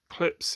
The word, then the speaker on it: Klipsch: Most people might disagree with me, but klipsch is how it's said.